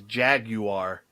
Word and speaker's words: Jaguar: Oh yeah, the British pronunciation of Jaguar is Jaguar.